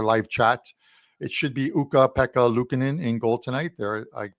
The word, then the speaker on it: Ukko-Pekka Luukkonen: And for TJ Salvador, who's going to probably pop into our live chat, it should be Ukko-Pekka Luukkonen in goal tonight. There, I pronounced it once again for you, but it